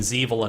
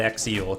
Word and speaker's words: Xevil: question on stream on why I keep saying zil not xil cuz is it is pronounced zil yeah we we asked